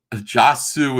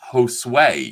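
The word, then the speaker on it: Josué: Lloyd Aloha says, Jasu is pronounced Josue, you big dummy.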